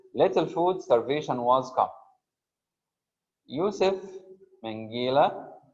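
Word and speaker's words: Josef Mengele: food starvation was come Yousef mangila if we pronounce it in the German Way YF Mela notorious notorious means Infamous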